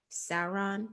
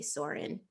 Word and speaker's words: Sauron: to fight against uh sauron that's how you say his name i want to say soren but that's not how you say it um and so you